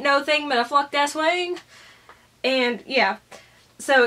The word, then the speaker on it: Aswang: And this is the Aswang. Okay, it's actually pronounced Oswong, but me and the